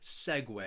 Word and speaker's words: segue: because of that spelling that second syllable is pronounced whey segue the next word that